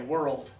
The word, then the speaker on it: world: practiced a lot but many Americans also say it has two syllables so do it that way world yeah many Americans do